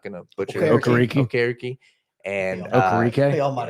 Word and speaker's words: Okereke: I'm not going to butcher Okereke.